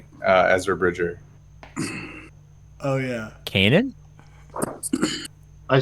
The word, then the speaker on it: Ezra: Like I had Urza Bridger in relics. It was my first Phoenix relic, and that was years. Did you say Urza Bridger? Ezra. Oh my god, what is it with your pronunciation today?